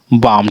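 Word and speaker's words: balm: फिर पाम, ठीक है, पाम, लाम नहीं, ला नहीं इसमें जोड़ना है, पाम, क्योंकि एल साइलेंट है। फिर ब्लाम, ला नहीं, बाम, ठीक है, बाम, इस प्रकार से।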